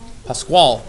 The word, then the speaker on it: Pasquale: So then we go to the third thing we should try to do, which is what Miss Pasquale? How do you say it? Pasquale.